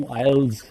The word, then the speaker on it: IELTS: You know, before this talk, I spent a couple of minutes trying to see how this word is pronounced. ਉਹ IELTS ਕਹਿੰਦੇ ਨੇ, ਕੋਈ ਕੁਝ ਕਹਿੰਦੇ ਨੇ, ਹੁਣ ਪਤਾ ਲੱਗਿਆ ਕਿ ਜੀ ਇਹਨੂੰ IELTS ਕਿਹਾ ਜਾਂਦਾ ਹੈਗਾ.